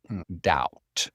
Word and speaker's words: doubt: Doubt. So remember the B, you don't pronounce the B.